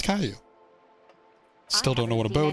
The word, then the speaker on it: Caillou: It is pronounced Caillou.